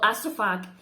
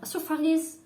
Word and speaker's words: Astrophage: It looks like a teeny creature called astrophag. No, you don't pronounce it like that. Astrophages, I think, are eating the sun.